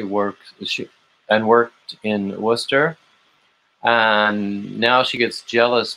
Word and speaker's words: Worcester: saying it correctly because people don't know how to say worcester it's not worchester which is how i used to say it russell doesn't completely understand